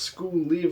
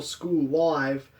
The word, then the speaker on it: School Live: once upon a time i wasn't sure if it was pronounced school leave or school live because you know it's funny to pronounce things incorrectly but i've since read this series and so i can now confirm that it is school live because in the manga